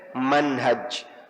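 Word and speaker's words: منهج: Jabir al-jazairi hanya panjang kalau hanya pendek Manhaj paint kita baca Manhaj salikin hanya ten pendek kalau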